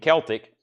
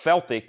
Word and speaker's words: Celtic: So we had that discussion that night about Celtic and Celtic. I think it's the only way it's pronounced Celtic is the Boston basketball team. Everywhere else it's Celtic.